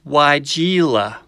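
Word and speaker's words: Weigela: is in the honeysuckle family and it's called waigeela yes it's pronounced why jela or y okay that was corny but you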